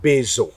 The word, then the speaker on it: bezv: Et même le bouleau (bezv), que l'on prononce "bezo" par ici Bezv, bev (vivant), oui… la vie (buhez) !